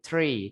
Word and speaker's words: three: Nah, jadi bacanya kan kita kan tulisannya three tapi bukan three tapi three. Three. Nah, gitu ya. Jadi lebih ke Inggris gitu ya.